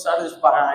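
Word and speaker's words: Charles Parham: na rua Zusa através do do Charles Parran, conforme o nosso irmão pronuncia. Eu não sei que é Charles Parran, mas o irmão disse Charles Paran, eu gostei da da pronúncia e agora também vou usar.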